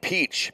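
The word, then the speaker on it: Piatsch: one-on-one to heist it's greg peach p-i-a-t-s-c-h i believe the pronunciation warming up in the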